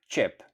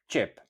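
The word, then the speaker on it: qep: So, for onion you will say chip chip And then even for sue, again chip. chip The e at the end is normally silent.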